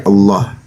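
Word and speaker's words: الله: kaidah kaidah pelafalan ee huruf lam lam yang di fathah itu memang mayoritas ya dan itu secara tajwid itu pembacaannya itu dengan ee tafkhim dibaca tebal ya Allah.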